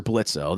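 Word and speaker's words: Blitzø: is the character of Blitz or blitzo though he doesn't like to be called blitzo okay it's it's Blitz the O but the O is silent uh and he is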